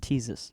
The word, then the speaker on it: Ctesias: Yeah, it's spelled Ctesias okay. and pronounced Teezus.